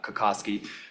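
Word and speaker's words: Cutkosky: I'm like, "Oh my I talked to Ethan because Ethan Kakowski plays uh Kakoski.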